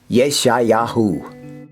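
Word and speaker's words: ישעיהו: Isaiah's name in Hebrew is Yeshayahu.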